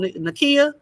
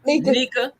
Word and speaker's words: Nika: keep saying they're wrong nakia not nakia how do you say it your name nika nika i'm sorry i keep adding extra letters nika i'm with her like